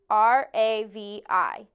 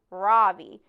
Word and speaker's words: Ravi: R-A-V-I. Mrs. Beam has been calling him Ravi, but when he introduced himself earlier, I'm pretty sure he said his name was Ravi, with the accent on the second syllable.